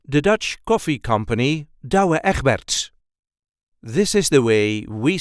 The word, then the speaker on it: Douwe Egberts: the Dutch Coffee Company da eberts this is the way we say dabert da there is a light emphasis on the first part of the first and second name da da the da